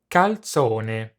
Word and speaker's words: calzone: the z is pronounced second the word final e is always pronounced have a listen to the correct pronunciation calzone i'm preparing the classic